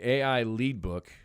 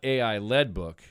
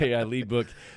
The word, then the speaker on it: AI Lead Book: Okay, AI Lead Book. Okay. Now, it's a heavy book. It is. But it's not AI-led book, even though it's spelled the same way. It's AI Lead Book.